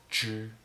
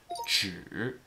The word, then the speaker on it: 只: When we use 只 as a measure word, like in 一只猫, one cat, it is pronounced using a first tone. 只 But when we pronounce it 只 with a third tone, it expresses the meaning of only.